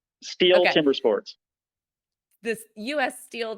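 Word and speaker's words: Stihl: gonna say this wrong is it steel is that how you say it yes steel Timber Sports this U.S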